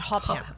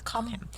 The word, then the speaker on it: Cobham: I said his name wrong. I said Cobham. It's Cobham. Viscount Cobham.